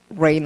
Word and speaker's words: reign: 발음 reign of terror.